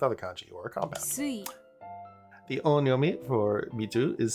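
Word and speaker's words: 水: Sui. The onyomi for mizu is sui, so when you see the kanji mizu combined in a word with other kanji, you read it as sui.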